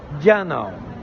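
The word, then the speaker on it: 电脑: Et ça s'écrit S-H-O-U espace J-I. Shouji. Et le dernier, ordinateur. Eh bien, ordinateur, ça se dit Diana.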